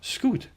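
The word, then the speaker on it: schuit: win us at home it's pronounced itself scoot which happened to be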